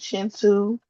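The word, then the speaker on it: Kintu: Like it's a book named Chintu. Um but it's spelled K I N T U.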